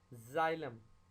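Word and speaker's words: xylem: लेकिन अगर X Y से पहले आए तो वो आपको Z का साउंड देगा। जाइलम, xylophone.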